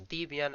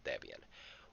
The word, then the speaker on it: Debian: is based on debian although some people pronounce it as deviant i prefer to pronounce it as debian which processor architectures does